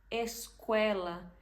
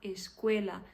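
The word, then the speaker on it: escuela: para vocês tanta gente tanta gente que fala esquela gente isso é um a mesma coisa da gente ouvir very good em inglês é a mesma coisa tipo esquela não você tem que falar esquela sempre fechado escel português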